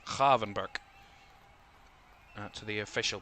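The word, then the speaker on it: Gravenberch: It's Kavvenber to the official pronunciation. A lot of people called him Graven Birch in his first season at Liverpool of course if you remember.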